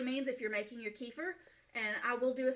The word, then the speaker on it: kefir: And so what I am using is some homemade kefir. Some people say kefir. When I learned about it, it was pronounced kefir, so that is the way that I pronounce it.